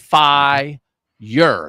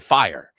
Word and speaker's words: fire: like as Society adaption it's one syllable though it's not F year there's not a why in the word fire so again like sometimes